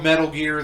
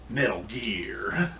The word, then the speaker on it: Metal Gear: You said it wrong. It's Metal Gear. You got to add that Kojima accent to it.